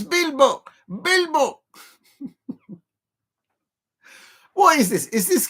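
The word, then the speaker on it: Bilbao: 2 syllables. Yeah, no borough. No bow. Bilbo. It's Bilbo.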